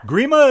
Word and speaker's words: Grima: in Canada we call agreement all right prima Grima it is how's Billy Grima believe we must feel great relaxing uh just